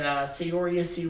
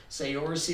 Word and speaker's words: Saoirse: One is called Lady Bird, which had Saoirse Ronan. I know that's not how she pronounces her name, but that's how it looks like it's spelled, so that's how I'm going to say it.